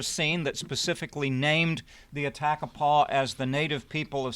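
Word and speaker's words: Atakapa: it showed Attakapaw people, and I presume to pronounce that like Atacapa.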